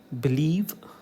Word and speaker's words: believe: Okay, it is below, become, begin, believe, beside. Give primary stress to the second syllable.